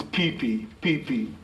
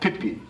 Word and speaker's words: Pipi: A lot of people will say Pipi Way, and so you're confused that there are Pipi over there, which indeed there are not. No, the proper pronunciation is Pipi, as opposed to the short Pipi.